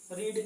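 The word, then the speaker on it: read: third form का भी रीड का थर्ड फॉर्म रीड ही होता है हां रीड बोला लिखा जाता है लेकिन पढ़ा जाता है रेड पढ़ा जाता है तो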